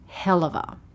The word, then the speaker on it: helluva: 'of', 'a', or this, 'helluva', which is actually how it's said. You will see it spelled both ways. When we say these words, we don't tend to say 'hell', 'of', 'a'.